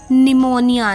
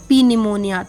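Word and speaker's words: pneumonia: ओ एन आई ए इट्स निमोनिया नॉट पी निमोनिया तो निमोनिया पी एस ए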